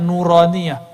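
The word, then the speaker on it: نورانية: Itu bacanya Nuraniyah.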